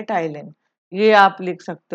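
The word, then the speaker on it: ptyalin: enzyme का name है उसको बोलते हैं टाइलिन उसको क्या बोलते हैं टाइलिन पी साइलेंट है इसमें उसको बोला जाता टाइलैंड दूसरा आपको पूछा जाता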